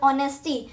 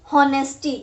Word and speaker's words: honesty: ऑनेस्टी, this is pronounced as ऑनेस्टी, नॉट हॉनेस्टी. एच is silent.